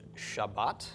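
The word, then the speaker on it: שבת: another highly significant word Sheen bait table with a pop tuck under the sheen and comets under the bait and this bait does have a doggish so this is pronounced Shabbat and is of course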